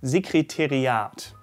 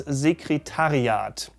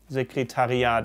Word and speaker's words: Sekretariat: So the administration office in German is often mispronounced as Sekretariat. Das Sekretariat. Ich muss mal ins Sekretariat. I have to go to the administration office. Well, it should be das Sekretariat. Sekretariat. It's similar to the word before, I'm sorry, very difficult to hear.